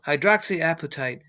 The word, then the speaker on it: hydroxyapatite: type yeah let me let me phonetically write it here so high is high drops like appetite right something like that but you get it right so hydroxyapatite is calcium phosphate it